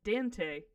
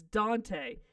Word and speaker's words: Dante: They're like, I live next to Dente. I'm like, the fuck is Dente? You know, by the Dente Mountain. What? Could you spell that for me? Cause I get a vowel. And it's Dante.